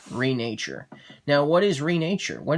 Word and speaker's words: Renature: one for this unboxing video i'll be unboxing reenacture or should i say actually it's renature it is pronounced renature now what is renature what does that mean